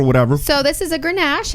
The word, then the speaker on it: Grenache: how you pronounce this word here. Grenache.